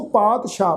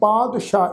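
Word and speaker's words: ਪਾਤਿਸਾਹ: सो पातशाह, पाठ की है जी पातशाह, इनू पातशाहो नहीं पढ़ना, पाठ की प्रनाउंस करांगे पातशाह।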